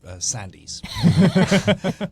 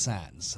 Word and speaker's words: Sandys: and I I CRA I stupidly corrected her and said it's actually pronounced Sans and she thought I